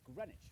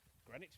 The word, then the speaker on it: Greenwich: is the east london suburb of greenwich where you don't pronounce the w or one of the e's and right here is